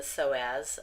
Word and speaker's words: psoas: We're going to cover the diaphragm and the psoas. The P is silent in that.